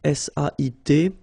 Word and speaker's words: sait: Here you write it S-A-I-T, okay, but then phonetically these three forms are the same, and it's c'est, okay?